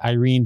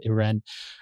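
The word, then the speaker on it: Irène: the older of them I would pronounce it Irene but in the movie they pronounce it it ran they convinced she convinces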